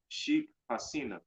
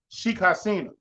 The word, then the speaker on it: Sheikh Hasina: What her name is, how you pronounce it? Sheikh Hasina. Sheikh Hasina.